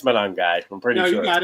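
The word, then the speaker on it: Monangai: I'm not going to pronounce his last name. It's It's I think it's Manong guy.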